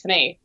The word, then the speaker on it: Fanny: they made it fine so for me it's much more natural to say yeah my name is fenay if i'm talking english oh interesting okay wow